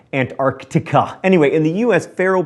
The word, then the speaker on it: Antarctica: on every continent except Antarctica Meritt says that I pronounced Antarctica wrong there's a c in there so I'm sorry Antarctica anyway in the US